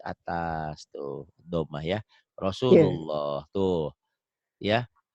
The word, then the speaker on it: Rasulullah: Kalau ditulis Latin kan Rasulullah, rahmatullah. Ini Hmm. nulis saya bukan begini kalau saya bantu gini. Nih Maci nulisnya. Rosu, tuh U-nya double. Lu, seakan-akan ada W-nya Maci itu.